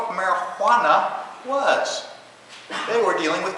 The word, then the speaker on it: marijuana: something that is called marijuana with an H right cuz in 1937 nobody had to pronounce a j as an age Spanish so Spanish different